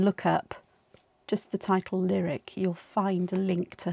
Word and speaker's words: Lirik: i'll see it yeah so this one is lyric and it's spelled li rik and i've got the